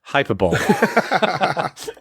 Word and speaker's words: hyperbole: Hey, as Adam Sweet once mentioned, it's pronounced hyperbole.